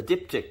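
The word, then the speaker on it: diptych: the same so now this is a dip tick now that's the correct pronunciation for a set of two a dip tick and then if it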